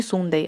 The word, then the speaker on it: Sunday: Не Sunday, опять-таки, да? Вот это U будет читаться как А.